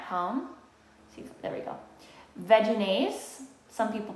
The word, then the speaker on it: Vegenaise: other eating at home see there we go vegenaise some people pronounce it v-ginase but i pronounce it vaginase this product has been around for years this